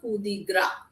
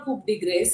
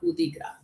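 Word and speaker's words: coup de grâce: So so that is a kudigra. The pronunciation is gra not it's not called kd grace. It is called kudigra.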